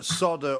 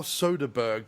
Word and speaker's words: Soderbergh: other than Stephen uh Solder or Soderberg, depending on how you pronounce his name.